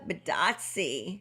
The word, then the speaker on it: Bitadze: Okay, so next up we have Goga Bitadze from Indiana. He rhymes with Yahtzee.